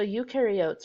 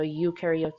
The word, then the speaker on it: eukaryotes: Remember that in the video they said pro rhymes with no, which means prokaryotes have no nucleus. Eu rhymes with do, so eukaryotes do have a nucleus.